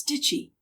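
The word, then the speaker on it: shchi: One of the most popular kinds is known as stitchy. Sneeze hard and you will get the right pronunciation.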